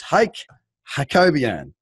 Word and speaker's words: Hayk Hakobyan: It's Hayk Hakobyan.